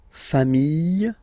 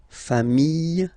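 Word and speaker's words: famille: put this s okay final s not pronounced fam singular form fam plural form pronunciation s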